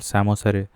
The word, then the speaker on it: psammosere: Then सैमोसेरे, सो I think that is Sandy areas में succession होता है, that is called सैमोसेरे, PSAMMOSERE, P silent.